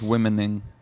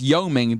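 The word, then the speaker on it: Wyoming: No, it's yoming. The W is silent.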